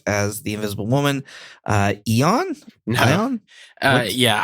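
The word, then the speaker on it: Ioan Gruffudd: Uh Eon. Uh, yeah. I have to always have to look up how to say this guy's name because it's uh Welsh, I think, but it's Yoan Griffith.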